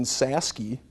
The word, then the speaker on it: Cysiewski: My other grandparents are Jim and Marlene Saski, CysieWski. Spelt a little different than it's pronounced.